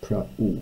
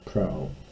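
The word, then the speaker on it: πραΰ: The diaresis simply means you pronounce this as two separate vowels, praeu rather than prao.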